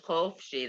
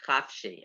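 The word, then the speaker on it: חופשי: We listened to something yesterday where somebody was singing Hatikva, and they said instead of saying Chofshi, they said Chafshi, and it's a different word.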